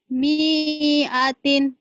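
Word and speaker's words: مِائَةٍ: Mi'atin. Mi-nya pendek.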